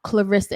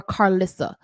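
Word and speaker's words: Karlissa: her name is not Clarissa and I see that chocolate did that here too her name isn't Clarissa her name is Carisa or Carissa but we call her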